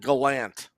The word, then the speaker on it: Gallant: That's how he pronounces his last name. Thought it was Gallant. No, he calls it Gallant.